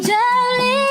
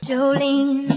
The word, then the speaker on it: Jolene: Jolene, Jolene, Jolene. This accents the 2nd syllable, which fits with how the name is pronounced.